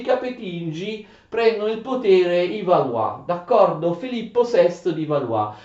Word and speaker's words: Valois: nuova dinastia di Valois, si scrive Valois ma si legge Valois.